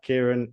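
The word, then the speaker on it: Kyren: around and he says, it's called Kyron, mate. I said it as a bit of a lead into that conversation, really. I thought so, yeah. I know so many people that are like, it's spelt the same way, but some like Kieran, some like Kyron, and obviously there's the other spelling as well.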